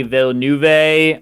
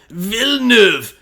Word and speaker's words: Villeneuve: you with my movie Denny vill nuve I don't know if that's how you pronounce it but he's French um his film sicario I think Emily blonde you should know how to say that name it's vilnev oh there you go sorry